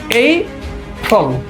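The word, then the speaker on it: April: কিন্তু আমের এটাকে দুইটা সেলে বলে ভাগ করে প্রান্সিয়েশন করে থাকে। সেটা হচ্ছে এই ফ্রল এই ফ্রল এই ফ্রল এই ফ্রল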